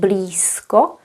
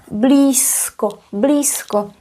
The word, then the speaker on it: blízko: You might have heard me saying blisco s and you heard that correctly. Although we write z, we pronounce it as s blisco because of the regressive assimilation.